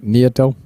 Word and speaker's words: Nieto: Okay, Tony, your last name is pronounced Nieto? Nieto. Am I saying that correctly? Give me a thumbs up if that's right. Nieto.